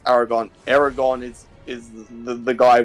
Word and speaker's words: Aragorn: it's it's Aragon is it Aragon yes it's Aragon Aragon is is the guy with the dragon